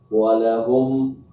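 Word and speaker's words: وَلَهُمْ: Tapi akan sangat berbeda jika kita membacanya dipanjangkan huruf lamnya pada kalimat lahum. Walahum adzabun azim. Nah, kalau yang pertama tadi lamnya pendek, walahum adzabun azim. Walahum adzabun adzim. Itu yang merusak makna.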